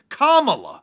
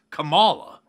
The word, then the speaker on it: Kamala: running mate and then clarified that her name is kamala not kamala and now all the